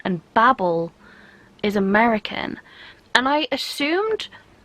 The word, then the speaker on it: Babel: because Babel I'm pretty sure is the English pronunciation and Babel is American and I assumed at first that